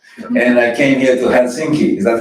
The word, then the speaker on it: Helsinki: Pronunciation, okay? Bergen. And I came here to Helsinki. Is that how I say it? Helsinki?